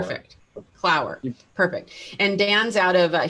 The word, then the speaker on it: Clower: You did it right, Clower. It's like hour or flower or power. Perfect. Clower.